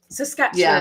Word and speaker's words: Saskatchewan: Saskatchewan. I've always wondered if how to pronounce that properly. Sasquatch. Sort of like Sasquatch. Yep.